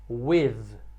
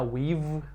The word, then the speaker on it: with: Preposição número 5 tem a pronúncia um pouquinho complicada também, que é por causa do TH no final. A pronúncia é with. With. Não é no lábio esse som, não é with.